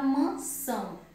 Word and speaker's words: mansão: Mas na palavra mansão, mansão, a sílaba mais forte é são, porque tem um tio, tá?